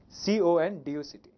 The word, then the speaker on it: conduct: How can it be pronounced? It's pronounced as conduct or conduct. In fact, both the pronunciations are fine, right? It depends on the part of speech here.